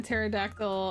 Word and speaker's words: pterodactyl: be said out loud why can't you hear a pterodactyl in the bathroom cuz the p is silent no it's cuz they're